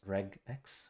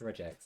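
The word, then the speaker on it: regex: at all so I thought it was reg x regular expression there was a debate about this on the it's pronounced reax I would say but uh what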